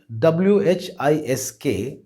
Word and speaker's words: whisk: இட் is spelt WHISK and pronounced as whisk.